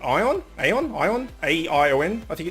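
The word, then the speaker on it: Aion: I have met Raz many times, although Raz and I met on an MMO, Korean MMO called Ion, A-I-O-N, I think it's spelt, sorry, about 7 years ago, and we've been like best gaming buddies ever since.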